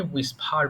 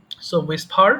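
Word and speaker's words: whisper: এটা কিন্তু হবে না এখানে এইচ এর উচ্চারণ হবে না হ্যাঁ ডাবল এর পরে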